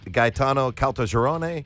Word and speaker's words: Gaetano Caltagirone: Lieutenant Gaetano Caltagirone. Wow, that's pretty good pronunciation.